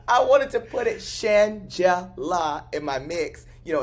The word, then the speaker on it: Shangela: And I remember I wanted, you know, people have sometimes a hard time pronouncing my name. I don't know why. They call me Shangela, Shangela, Shangri-La, Shagina. Shangela.